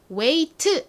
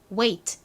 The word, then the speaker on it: wait: 발음은 wait 이렇게 t를 세게 하지 않고 t 소리는 약하게 잦아드는 발음이 난다 라고 설명드렸었죠. 2번만 따라해 볼까요? wait. 따라해 보셨나요? 한 번 더 해볼게요. wait.